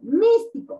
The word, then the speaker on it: místico: Y lo voy a encerrar, digo, místico, místico. Ah, la mística. Esta es la sílaba tónica, porque es la sílaba que tiene la mayor fuerza de voz.